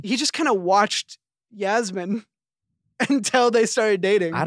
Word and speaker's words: Yasmin: podcast speaking about you and Yasmin um it's pronounced Yasmin get it right oh uh